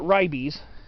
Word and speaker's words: Ribes: some people pronounce it rybies i try to be a little closer to the the actual latin pronunciation but uh some of